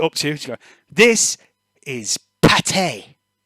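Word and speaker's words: pâté: Pate you have to you have to like pronounce it proper if you say Patty or putty you get told off but if you say Pate it makes you sound real Posh like that's it you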